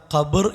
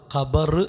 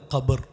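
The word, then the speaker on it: قبر: അതിൻ്റെ ഉച്ചാരണം ഖബർ എന്നാണ്. ഖബർ എന്നല്ല, ഖബർ. ബാഇന് സുക്കൂനാണ്.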